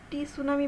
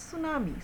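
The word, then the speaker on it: tsunami: মানে রক্ষা করা সুনামি এটাকে আবার কেউ টি সুনামি বলো না এটার উচ্চারণ হবে বা প্রনান্সিয়েশন হবে সুনামি সুনামি অর্থ হচ্ছে সুনামি সাইক্লোন সাইক্লোন মানে ঘূর্ণিঝড় টাইডল ওয়েভ মানে জলশ্বাস।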